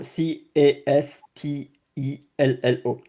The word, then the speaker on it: Castello: So C A S T E L L O Castello.